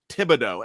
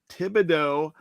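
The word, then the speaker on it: Thibodeaux: With the 3rd overall pick, the Houston Texans select Kayvon Thibodeau. Am I pronouncing that right? Thibodeau?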